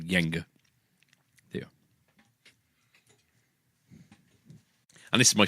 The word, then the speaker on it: Jenga: play Jenga play Jenga interests in fact I pronounce it Yangon until the age of about 21 when some he corrected me and said it's Jenga and I didn't believe them until because the